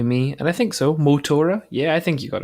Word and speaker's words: Motora: behind this great game and also did I pronounce a right column that's definitely me and I think so mo Tora yeah I think you got it right okay